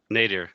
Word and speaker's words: nadir: a place called the endless how do you pronounce this word na di are near nadir nadir yeah like Ralph mmm-hmm the endless nadir anyone